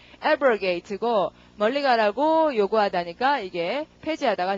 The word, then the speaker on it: abrogate: 자, 그다음 그 뒤로 가시고 발음은 강세가 앞이고요. 발음이 abrogate고 멀리 가라고 요구하다니까 이게 폐지하다가 됐다.